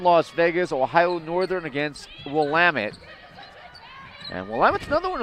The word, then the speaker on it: Willamette: yeah ask know everything I think some people probably think it might be William it but yeah Chris sabato